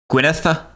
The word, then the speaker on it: Gwynedd: Those two D's are pronounced like a TH in the. Gwyneth?